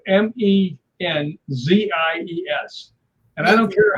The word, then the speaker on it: Menzies: But that letter is pronounced like a G. Like a D? Like a G. So it'd be Menzies.